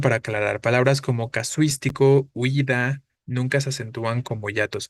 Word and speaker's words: huida: Huida. Al pronunciarla, ¿cuál parece sonar fuerte? La I, ¿no?